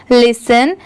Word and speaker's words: listen: यहाँ पर LIS लिस हो गया, पर TEN टेन नहीं होता। जैसे अगर ये सेपरेट रहा तब तो हम इसे 10 पढ़ेंगे, TEN 10, बट यहाँ पर इसकी प्रोनाउंसिएशन क्या है, लिसन। तो यहाँ पर सेन की साउंड आएगी, ठीक है, ना कि 10 की।